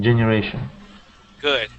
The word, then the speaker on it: generation: Here you had said generation, using more of an E sound. Yeah, it has a short E at the end, at the beginning. Generation. Okay. Generation. Good.